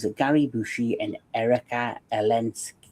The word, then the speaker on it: Eleniak: Tommy Lee Jones, and Gary Busey, and Erika Eleniak. How do you say her name? Erika Eleniak. Erika Eleniak.